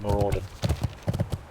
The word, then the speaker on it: Maraudon: I'm going with Maraudon as the pronunciation, by the way. Because this bit says Maraud. Marauder, if that was an E and an R on the end instead of an O and an N, I'm going with Maraudon.